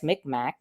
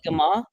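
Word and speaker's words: Mi'kmaq: So, so the the feds um call us McMac and and the which mic that's how it's written. Um but Miguma is the Migma Migma Migma is the pronunciation and there are 29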